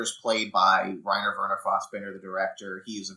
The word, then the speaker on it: Fassbinder: But I think Picard pronounces it Fassbinder, which is how a lot of people who are not German pronounce it.